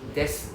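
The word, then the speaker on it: です: Desu ne. Desu ne. Desu ne. Desu ne. As I mentioned earlier on, this des, the U is silent, right?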